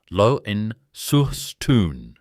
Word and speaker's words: Launceston: From 1935, he ran the company's Launceston operation in Tasmania, and the town is pronounced Loen-sur-Stoon, which every Tasmanian in this audience already knows.